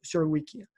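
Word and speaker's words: Surowiecki: Виходить ціла серія книжок, починаючи з Wisdom of Crowds, тобто був такий, здається, українське, напевно, його прізвище треба вимовляти, Суровіцький, по-англійськи говорять Суровіки.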